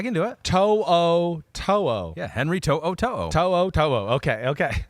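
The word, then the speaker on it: To'oTo'o: do it yeah Henry toe Oto okay okay I know it's one of those that's like it actually reads exactly the way it's spelled yes but you don't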